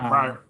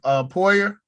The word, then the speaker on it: Poyer: I got Pryor. Who? Oh, Poyer. Yeah, my bad. I said it wrong.